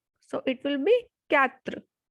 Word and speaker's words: quatre: 4 is quatre, quatre, because QUA has sound ka, ka. So it will be quatre.